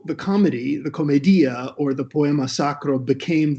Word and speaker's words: Commedia: We refer to the work as Divine Comedy, but probably the proper title is Commedia, which is how Dante would have pronounced the word comedy in Greek.